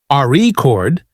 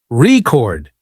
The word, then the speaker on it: record: For example, in the word record, if you stress the first syllable, RE chord, it's a noun, but if you stress the second syllable, record, it's a verb practicing stress.